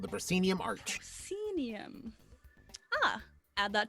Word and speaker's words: proscenium: major let me use this please p r p-r-o-s-c-e-n-i-u-m proscenium proscenium that's a brand new word to my mouth people normally think about a theater right where you have like that frame around it yeah called the proscenium arch cenium ah add that to my personal